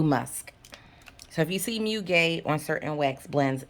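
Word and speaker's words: muguet: or in french it's mu gay um bamboo musk so if you see mew gay on certain wax blends it's just lily of the valley and it's just a floral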